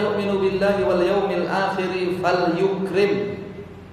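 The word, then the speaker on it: فَلْيُكْرِمْ: Wa man kana yu'minu billahi wal yawmil akhir falyukrim. Bacanya fal yukrim jarahu.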